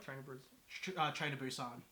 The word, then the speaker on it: Busan: is just my opinion, but the little girl in Train to Busan has to be like one of the best child actors Honestly, I've seen.